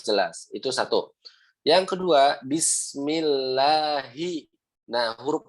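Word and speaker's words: بسم الله: Kadang kita nih kalau lagi makan, kalau lagi apa, orang bacanya Bismillah, Bismillah, Bismillah gitu ya. Nggak ada penekanan, harusnya ada penekanan, harusnya bis, nah gitu harus jelas.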